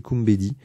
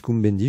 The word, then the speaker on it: Kumbedi: Vous savez qu'il y a des gens qui n'arrivent pas à prononcer Kumbedi. Je vois pas tellement ce que ça de difficile. Ils disent Kumbendi, je vois pas pourquoi on rajoute un N.